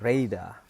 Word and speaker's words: radar: Dan ada juga yang menarik contoh lain, yaitu contoh radar. Jadi radar itu di awal stresnya, tapi di second syllable-nya itu ada 2 untuk kata, ada syllabusnya ada 2 untuk radar. Radar, radar, radar. Jadi radar, radar, radar, ya, itu ada 2, ada primary dan secondary.